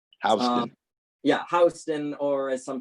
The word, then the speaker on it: Houston: Avenue and this street, sometimes mispronounced by out-of-towners to match the name of a city in Texas. Houston. Houston.